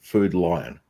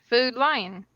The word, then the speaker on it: Food Lion: it ain't that bad there's a word no one in the south pronounces properly food lion food lane yeah food food lion yeah it sounds like you're saying food line like you're standing in a line to get food all right i got